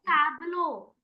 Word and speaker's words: tableau: Tableau. Tabular. It is in Tableau. Hmm ma'am टैबलो झांकी। टैबलो. हाँ टैबलो. हाँ टैबलो. The word is not tabular, it इज टैबलो.